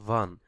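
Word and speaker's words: wann: দেন হয়েন, হয়েন মানে হচ্ছে ভান, এটাকে বলা হয় ভান। এখানে ডাব্লিউ কে ইংলিশ ভি উচ্চারণ করা হয়।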